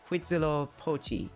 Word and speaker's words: Huitzilopochtli: Huitzilopochtli? That makes sense. Like the wheat, it becomes wit. Huitzilopochtli.